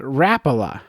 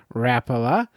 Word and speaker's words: Rapala: a fishing company that I've always said the name wrong and it is the company's called it's called Rapala I was called Rapala but Rapala is the